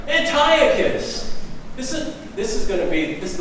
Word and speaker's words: Antiochus: This is Antiochus. Did I say it right? Antiochus.